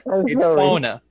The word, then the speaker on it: fauna: How do you say fauna? It is like the same. We like. You can say wildlife, but it's fauna. Fauna. It's fauna.